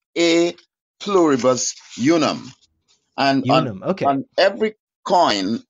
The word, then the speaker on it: E pluribus unum: The E is in Latin. It's pronounced A pluribus unum.